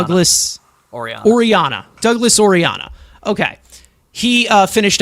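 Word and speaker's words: Orellana: It's Oriana. Douglas Oriana.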